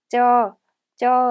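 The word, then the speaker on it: เจอ: 저 하고 발음하고요. 만나다라는 뜻을 가지고 있어요. 정확하게는 장모음으로 저 하고 발음해 주시면 됩니다.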